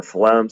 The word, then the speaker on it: phloem: The way I remember phloem cells being in charge of food is food, starts with an F, phloem cells, even though it's spelled with a PH, has that F sound.